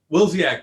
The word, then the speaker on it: Willzyx: What is it? Willzyx, but the way you pronounced it is Willzyx. how everyone does it, so Yeah. you're technically It's, right. it's either that or Willzyx, but like honestly, we